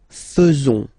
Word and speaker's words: faisons: So it's quite strange because French people tend to pronounce faisons.